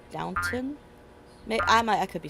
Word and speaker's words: Downton: Yeah, I don't think, is it downtown? I don't think there's a W in it. I could be wrong. But I think it's Downton.